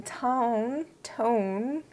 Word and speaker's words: Ton: So this company is called T-O-N with the long dash over the O, which means I think it's pronounced Tone and not ton. Even though my heart says ton, I think it's Tone.